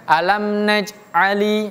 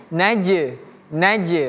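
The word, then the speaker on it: نجعل: Jadi bacanya bukan alam najali tapi naj memantul.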